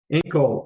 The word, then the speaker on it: Enkel: one so far now here's the one that's going to get me Omar this room with ankle ankle ankle yes that's correct ankle ankle yeah not the body part but that's how you say it it's really funny we